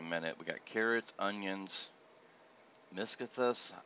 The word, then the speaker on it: Miscanthus: we got carrots onions miscothus i'm i may be pronouncing it right wrong miscanthus might be the correct pronunciation i looked that up